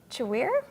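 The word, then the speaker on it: Chiwere: One of those dialects was Chewir? I don't know that. You go for it. It's spelled kind of like Chicago and then weir, but it's a language that is now slowly fading away.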